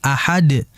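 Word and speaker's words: أحد: Sifatnya dia kan adalah qalqalah, maka dipantulkan qul huwallahu ahad, ahad, dan langsung dipantulkan, jangan sampai ditahan.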